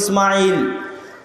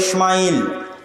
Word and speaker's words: ইসমাইল: আমরা সিন হালকা করে উচ্চারণ করি ইসমাইল, তারা বড় করে মোটা করে উচ্চারণ করে ইসমাইল, এবং তারা এটাও স্বীকার